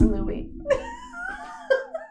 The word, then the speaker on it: Louis: what I mean hairy but he's really Lewis Louie Louie it's Louie I read it I'm sorry Louie I really